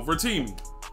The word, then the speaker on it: Rotimi: How you pronounce his name? Oh, Rotimi.